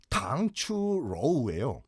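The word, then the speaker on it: 糖醋肉: 이 당초육 얘기 나온 김에 이것도 우리가 발음을 좀 정리해야 되는 것이 당초육의 중국식 발음이 당추로우예요. 예. 근데 이거를 당추로우로 하든지 당초육이라고 하든지 예.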